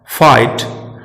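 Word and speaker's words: fight: जब जी एच एक साथ वॉवेल के बाद आता है तो जी एच दोनों एक साथ साइलेंट रहते हैं, जैसे थॉट, फाइट, डॉटर। और एक बात और हमें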